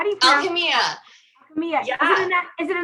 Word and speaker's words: Alchemia: How do you Alchemia.